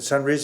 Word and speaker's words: Sunrisa: And it's an ordinance approving a specific use permit to Sunrisa Dental for the, is that Sunrisa, is that the proper way to pronounce that? Yes, sir.